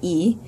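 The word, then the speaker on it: и: starts with this letter so just remember I is e this is e cayot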